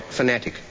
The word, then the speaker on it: fanatic: Yeats mispronounced it and put the accent on the first syllable, whereas we normally put it on the second, and there are 3 syllables.